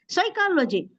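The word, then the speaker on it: psychology: नहीं पढ़ी जा रही साइकोलॉजी पी नहीं है एस से ही शुरू होना है तो ऐसे ये सब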